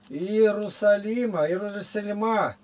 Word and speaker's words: Иерусалим: А вот Иерусалим, как можно сказать? Иерусалима. Тут знаешь, сколько вариантов? И тут и так ударение на И, на предпоследнее слово.